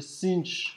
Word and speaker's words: sinh: If I was to divide the sinh, that's how you say it, with the cosh, you'll end up with that function here.